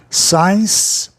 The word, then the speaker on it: science: Science, você tem o quê? A regra do I ou Y na primeira sílaba, soando I, como é o caso de discar, dial, né? De miopia, myopia, no caso do Y, diálogo, dialogue, diadema, diadem, science. E consciência, conscience.